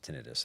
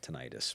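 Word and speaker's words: tinnitus: my my wife tells me it's it's actually pronounced tinitis. Every a lot of people call it tenitis, but it's she's a speech pathologist, so Oh, okay.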